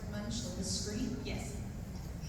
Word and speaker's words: Munch: I feel like in America you say mooch or monk. I say monk, but it's Edward Munch, The Scream?